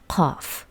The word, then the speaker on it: ق: In Arabic, they pronounce this one Ghain, this one Qaf. Ghain, Qaf. G, Q. Actually, Q is something between K and G in Arabic. But in Persian, both of them are pronounced G.